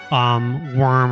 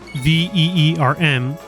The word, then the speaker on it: Wyrm: Okay, so the word that you all saw me pronounce, Wyrm, in case you were wondering why I didn't say like worm or Wyrm, is because that word comes from the word Wyrm, Veerm is the pronunciation, which means serpent.